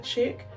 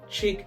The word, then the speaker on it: chic: slsh SL Jacqueline denda chick that is j a c q u e l y n d o r i n d a c h i c chick as in female okay and know now